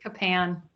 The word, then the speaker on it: Capan: I'm Capan. That's how you pronounce it. Capan.